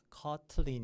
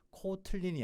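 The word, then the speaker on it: Kotlin: 얼마 전에 코틀린에 나왔어요 커틀린 이겠죠 코틀린이 아니고요 우리나라 말 아니고요 커틀린 코틀린 이렇게 발음할 겁니다 그래서 그거를 이용하면 뭐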